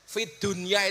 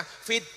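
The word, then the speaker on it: في الدنيا: ingat rbana Atina Fiddunya Fid Dunya itu sebenarnya bukan bacaan idhar tapi idgham harusnya bacanya Bagaimana fidunya tapi ternyata oleh ulama Disuruh membaca secara Idhar jelas Fid Dunya kenapa urusan dunia harus dibaca Idah dibaca jelas karena urusan dunia harus jelas jadi kalau Robet ngundang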